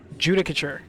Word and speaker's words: Judicature: Pronunciation. How do I say that? Judicature.